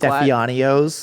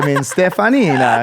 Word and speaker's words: Steffanina: Yeah, Steffanina is technically pretty phonetic. Like Yeah. As it sounds as it's spelled, but you'd be surprised.